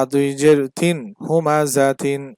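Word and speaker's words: هُمَزَةٍ: দুই জের তিন হুমাজাতিন এখানে থামলে হবে হুমাজাহ একবার আমি পূর্ণাঙ্গটা উচ্চারণ করছি যেটা বানান করলে যেটা হয় প্রথমবার আমি পূর্ণাঙ্গ উচ্চারণ করেছি বানান করলে যেটা হয় যেমন হুমাজাতিন তারপরে হচ্ছে থামলে যেটা হয় সেটার উচ্চারণ করেছি হুমাজাহ দুই জবর ওয়ালা হরফে থামলে এক আলিফ টেনে পড়তে হয় তবে গোল তা এর উপর দুই জবর থাকলে সেখানে থামলে কোন টান হবে না বরং সেটা হা হয়ে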